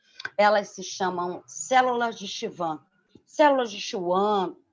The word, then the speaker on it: Schwann: se chamam células de schwann células de schwann e a pronúncia a gente né a gente escuta várias formas mas se ela não existe van então olha lá nós